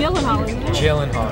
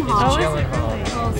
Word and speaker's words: Gyllenhaal: Mr Gyllenhaal and yes that is how you pronounce his name you want me to say it for you so you know it jillen Hall Jen jillen Hall everyone it's jillen Hall before I get to you it's jillen Hall